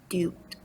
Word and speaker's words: duped: word is d-u-p-e but we do not pronounce the Ed here so it's just duped duped blind Conformity the